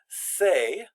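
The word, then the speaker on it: ces: is going to be say so the S is silent but the Amy except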